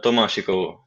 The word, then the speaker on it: Tomášikovo: That's the Tomášikovo.